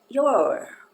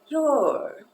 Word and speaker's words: you're: You are, contração, e a pronúncia é your. Ela tem meio que como se fosse uma ligadura de partitura, sabe? Que ela faz your.